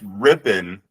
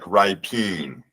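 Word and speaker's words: Rypien: It's pronounced Rippin, but it looks like Ripeen.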